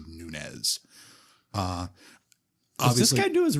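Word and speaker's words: Nunes: radio keep pronouncing it Nunez yeah there's no tilde schwa door whether yeah and the last name actually is rooted in Portuguese so the PN would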